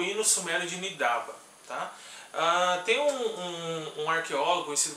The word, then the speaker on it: Nidaba: As leituras como Nis, Asaba, né, tradicionalmente, e também Nidaba, que foi proposta mais recentemente, eles se baseiam principalmente em algumas colunas de pronúncia cadianas, em textos lexicais onde são encontradas essas escritas, né, como Nisaab, Nisaaba e também Nidaba. E a leitura Nidaba que foi a preferida nos tempos, vamos dizer, modernos, então a gente está adotando.